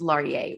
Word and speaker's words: Laryea: sustainablebrowngirl enjoy perfect and your last name is pronounced laurier right yes okay cool today's